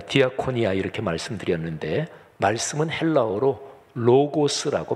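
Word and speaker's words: λόγος: 헬라어 원문으로 보면 섬김, 아까 제가 디아코니아 이렇게 말씀드렸는데 말씀은 헬라어로 로고스라고 발음합니다.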